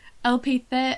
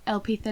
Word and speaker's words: Elpitha: I don't know why they put the emphasis on the E and not the I. It's Elpitha.